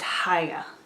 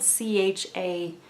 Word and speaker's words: Chaya: It's spelled Chaya, but I think it's like Haya. I think there's supposed to be sort of a guttural H to it, sort of like challah bread or Hanukkah, which are all spelled with CHs.